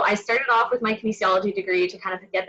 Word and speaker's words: kinesiology: holds three degrees and can oh i'm gonna mispronounce this kinesthesiology you can fix it later for me samantha